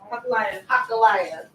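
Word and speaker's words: Hachaliah: family background, except that his father's name is Hakala. I believe that's how you pronounce it. Right? Nehemiah's father's name, Hakala? Hakaliah? Hakaliah.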